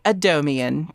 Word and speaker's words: James Adomian: very special guest is none other than James Adomian.